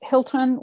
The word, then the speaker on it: Hylton: And it's not Hilton like the hotel. It is not. It's Hilton with a Y. Some people let the Y throw them and they think it has to be pronounced differently, but it's actually the old English spelling.